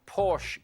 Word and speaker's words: Porsche: Well, first of all, it should be pronounced Porsche because he's German.